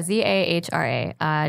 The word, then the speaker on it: Zahra: an H in the Zara there's an H in the Zara zah RA don't ask me why my parents wanted to spell it phonetically because they didn't believe